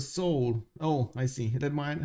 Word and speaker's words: Seoul: Seoul is pronounced kind of soul.